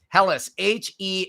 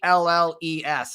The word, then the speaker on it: Helles: Helles, Helles, almost like hell, but with ES added to it.